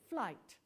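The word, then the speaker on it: Flyte: for aloysius sebastian fleet i don't know how to pronounce this sebastian flight it's about f-l-y-t-e flight flit flight okay thank you in evening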